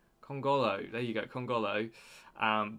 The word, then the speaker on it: Kongolo: colongo man i've got to remember how to pronounce his name kongolo there you go kongolo um but we just